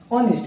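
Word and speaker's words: honest: की हमारा रंग है इसे हम ऑनेस्ट इसमें जो हा कहते हैं वो साइलेंट राहत है क्या बोलते हैं इसे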